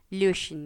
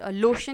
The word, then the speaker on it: löschen: du bitte die E-Mail, löschen या löschen, इसमें एक बीच में ए का प्रोनाउंसिएशन रहता है, löschen या, इट्स नॉट लोशन नहीं है जो लोशन लगाने वाला, तो ऐसा लोशन नहीं है, löschen मीन्स टू डिलीट।